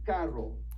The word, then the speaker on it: carro: Now, when you look at the double R, this makes more of that Spanish sound that you've probably heard, the trill sound. So it's going to be kind of a r sound. So this is going to be carro. Try to say carro.